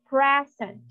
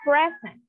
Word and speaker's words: present: let's have the example the noun present okay the stress is on the first syllable which is impressed present like I would like to give you a present this Christmas so it's present okay so next verb